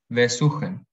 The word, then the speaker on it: besuchen: En cambio, si los verbos son inseparables, tienen el acento después del prefijo. Besuchen.